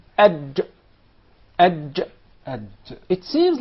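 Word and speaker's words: ج: Not ag. Yes. There is no gim in Arabic. It is aj. Aj. Ad. It seems like it comes from the middle of the mouth. Aj.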